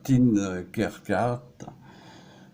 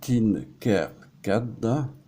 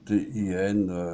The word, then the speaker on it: Tinkercad: Donc vous voyez donc sur le logiciel enfin Tinkercad, enfin je prononce mal, enfin Tinkercad, donc CAD à la fin, donc Tinkercad.